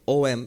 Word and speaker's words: Om: In fact, the A and the U, in English you write it as A-U-M, but the A and the U, if you put it together by the rules of Sanskrit grammar, it becomes O. So the way we write it in English is actually absolutely correct. O-M is absolutely correct.